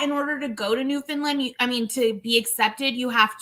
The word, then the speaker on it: Newfoundland: couple and they're in Newfoundland, which is also in Canada. So. It's pronounced Newfoundland.